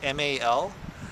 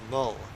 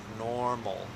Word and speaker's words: normal: It's spelled M-A-L, but one of the sounds that you'll hear a lot in English is the sound. So it's mol. It's not mal, but it's mol.